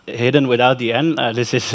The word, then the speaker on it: Hidde: talk about design my name is hidden it's pronounced hidden without the end this is a very common